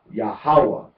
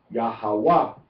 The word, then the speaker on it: YAHAWAH: Pronunciation on the second syllable is Yahawah. Pronunciation or accent rather, or emphasis on the third syllable is Yahawah. Yahawah.